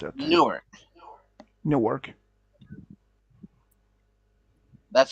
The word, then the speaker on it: Newark: D New York or nework Newark how to pronounce it Newark Newark that's how you say it gotcha give